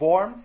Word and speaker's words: Worms: In 1521, the Diet of Worms, to use the German pronunciation here.